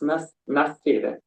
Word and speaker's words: nascera: In the first time, you said correctly. It's nascera.